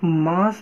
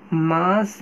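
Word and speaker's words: mass: मास ना कहें, ये बात ध्यान रखना कि मास नहीं होता है, इसकी प्रोनाउंसिएशन ये रॉन्ग है। ये क्या है? एटॉमिक मैस है। एटॉमिक मैस, मास नहीं, आप सर्च कर सकते हैं, एटॉमिक मैस है।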